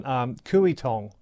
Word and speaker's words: Kooyong: Another one Kooyong. Okay I think that's a pronunciation correction uh for uh for us.